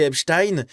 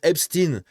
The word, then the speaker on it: Epstein: Et ben nous en France, on va prononcer Epstein et en Angleterre, enfin dans dans le monde anglophone, il prononce Hstin parce que bah c'est la manière anglaise de le prononcer mais je veux dire,